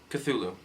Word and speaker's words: Cthulhu: I mean, I'm a huge Cthulhu fan, and yes, that's how it's pronounced, Cthulhu.